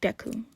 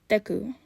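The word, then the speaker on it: Deku: no happiness within it deu it's a different way of pronouncing the Ki of my first name it it's supposed to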